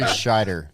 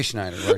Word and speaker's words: Scheider: Yeah, Roy Scheider. Roy Schneider.